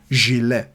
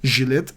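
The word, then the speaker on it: gilet: want to say vist you have to say jile I know it's very hard to pronounce because it has a z at the beginning of the word but still if you want to say jile correctly please practice it like that don't say jet Gillette is for shaving Ghillie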